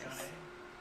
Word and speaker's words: Jana: Her name is pronounced Jana. Oh, Jana. Okay. It is pronounced John with an A. Okay, I apologize. John A.